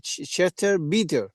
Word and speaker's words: Chester Beatty: O sea, papiro de Chester Bieter, No sé, Sony, que tú sabes más inglés que yo, ¿cómo se pronuncia? Es Chester Beatty.